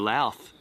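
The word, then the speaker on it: Louth: going to go through lath population 47 did you just say that with a list l l l it's spelled l o u t h there's nothing there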